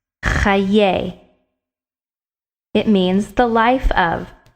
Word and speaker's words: חיי: The dash under the chet makes cha. The two dots next to each other under the yud makes ye. Chayei. It's a difficult word to pronounce. Chayei.